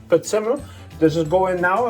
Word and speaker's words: prezzemolo: Prezzemolo. Prezzemolo?